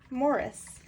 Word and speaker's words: Maurice: It's called Maurice, or Morris.